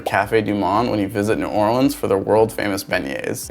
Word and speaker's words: New Orleans: snacking on them also when pronouncing New Orleans just remind yourself it is ore and lens like a camera lens kill them Swifty if